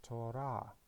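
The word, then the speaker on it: תורה: So we can read this word as Torah, and the meaning is a law or instruction.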